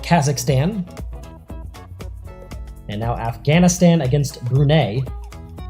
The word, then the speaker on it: Brunei: and now afghanistan against brunei or brunei depending on how you prone to pronounce it but here on marvel fu because we're gonna pronounce it brunei they're in the yellow